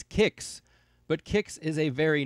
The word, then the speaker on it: Qix: the classic arcade game quicks and yes I'm well aware that the actual pronunciation for this game is kicks butt kicks is a